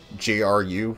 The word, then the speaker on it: GRU: G-R-U, whatever it is. They pronounce it GRU in Metal Gear Solid 3.